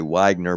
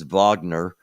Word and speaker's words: Wagner: United States you'll say Wagner but everywhere else it's Wagner um The W is pronounced like a V and Wagner of course